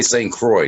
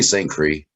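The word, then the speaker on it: St. Croix: we're very excited and wait and we say St Croy did you say St Cree I said St Croy you are correct I'm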